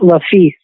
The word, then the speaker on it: LeFils: It's LeFils, like law, like LA, and then fee, like the word fee with an S on it. LeFils. Fantastic, LeFils, the Southern Fellow.